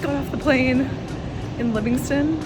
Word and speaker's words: Livingstone: Just got off the plane in Livingston. That's how they say it. I would say Livingstone.